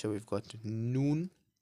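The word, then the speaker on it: ن: The next one we have is noon. Similar to a n in English. So we've got noon.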